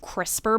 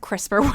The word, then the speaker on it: CRISPR: a rabbit hole with crispr would be it it's an acronym so it's spelled c-r-i-s-p-r so it's kind of crisper without the e okay and so what